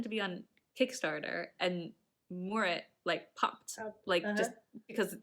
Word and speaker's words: moorit: Scottish word there, and he mentioned that my pronunciation of Moorit was not very Scottish. It's basically because what I tend, and probably other Americans and other non-Scots maybe want to say Moorit. He was saying it's more like if you put the kind of syllable after the O's, so Moorit instead of Moorit. There's also a thing with, Scottish people tend to roll their R's a little bit, so there's that as